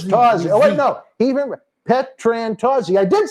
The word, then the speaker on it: Petrantozzi: Petrantozzi.